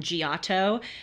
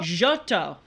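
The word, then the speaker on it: Giotto: a little segment on gato and I have also been trolled by listeners for not pronouncing him correctly it's apparently jotto jotto you mean jotto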